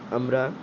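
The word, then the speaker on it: umbra: आप लोग इस स्पेलिंग को देख के इसको अम्ब्रिया भी प्रोनाउंस कर सकते हैं, लेकिन वो एकदम करेक्ट प्रोनाउंसिएशन नहीं होगा, वो आपका क्या होगा, अम्ब्रा होगा।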